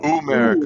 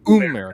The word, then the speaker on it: Umerica: Is it America or Umerica? Umerica. No. Umerica. Like double O. Umerica.